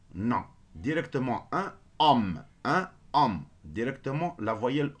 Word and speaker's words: homme: Un homme. Est-ce que نطقنا ال H? Non. Directement un homme.